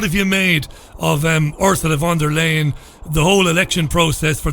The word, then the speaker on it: von der Leyen: Okay, well, first of all, just on the pronunciation, it's Ursula von der Leyen. Von der Leyen, which I suppose is ironic. Von der Leyen. Or von der Lioness, maybe we should call her.